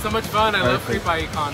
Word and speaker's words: Creep I.E. Con: much fun I love creepie con it's so much fun you pronounced it correctly yeah it was this creepy it's like you got to say it right yes in the inan